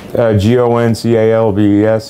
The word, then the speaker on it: Goncalves: That's the way it's spelled, the way it sounds. Goncalves.